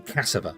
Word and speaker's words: cassava: But to me, an is a very unemphasized But I'm saying cassava, which is an A. So I'm pronouncing the A.